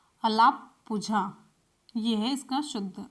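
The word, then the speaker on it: Alappuzha: है तो केरल के कहां पर अलापुझा में अलापुझा लिए यह इसका शुद्ध उच्चारण और इसी तरीके से पहली-पहली में क्या-क्या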